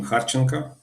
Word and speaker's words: Kharchenko: So my my name is Khanka. It's like how how you pronounce it in in Ukrainian more or less a software developer but